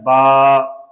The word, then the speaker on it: با: سے آواز بنتی ہے با۔ اب اس پہ زبر ہے، زبر میں منہ کھلتا ہے، با، با، پتلی آواز، با۔ انگلش سپیلنگ ہے بی ڈبل